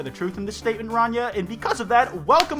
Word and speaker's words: Rania: Rania, which they say is pronounced Ranya, says that if they were